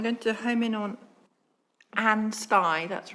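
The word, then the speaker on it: Ansty: item no I'm going to home in on anstey that's right isn't it that's how anstey that's how you pronounce it is that correct yep um I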